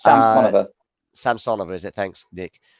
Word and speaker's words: Samsonova: It's Samsonova.